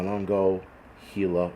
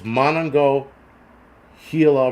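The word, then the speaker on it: Monongahela: when it's warmer obviously my Longo Gila River it's monongo Gila River thank you Christine appreciate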